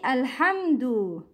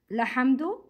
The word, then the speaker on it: الحمد: When you start the word, when you say Alhamdu, Alhamdu, we pronounce Hamzat Al-Wasl. It's not Lahamdu, no, Alhamdu, pronounce Hamzat Al-Wasl.